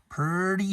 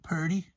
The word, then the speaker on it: Purdy: the road to Connecticut pretty Hill not pretty but Purdy Purdy Hill Bronx River Travis Hill